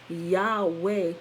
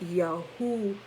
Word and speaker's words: Yahweh: see why is why it's not pronounced yahweh but yahoo because that double v and they they just